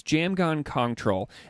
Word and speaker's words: Jamgon Kongtrul: of troll yeah yeah so the s in in that is silent and then the PR